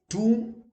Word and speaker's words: tomb: Tomb, like I'm going to visit the tomb of, let's say, Akbar near Agra. You don't say tomb. No, B is silent. Tomb.